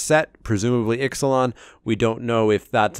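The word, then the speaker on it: Ixalan: know it's called Exelon we know it's pronounced Exelon and that it's coming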